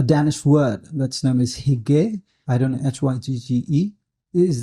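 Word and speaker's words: hygge: about uh a Danish word that's known as higge I don't know h-y-g-g-e is this a really popular term oh that's how it's pronounced so they said that you've got hookah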